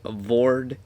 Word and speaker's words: Vordt: 4 of the walkthrough so this will be bored or Voort however you want to pronounce it of the boreal valley and it's